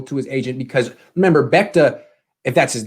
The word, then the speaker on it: Bechta: Bechta, not Bechta.